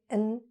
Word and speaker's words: and: cream and sugar Microsoft and right Microsoft and Google so we almost swallowed the word and and we just reduce it to except when you want to emphasize the word and all right now this